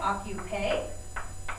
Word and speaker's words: occupé: Répétez, occuper. It means busy, kind of like the English word occupied. Occuper, occuper. The pronunciation does not change, but we're still adding an E because we're talking about a girl here.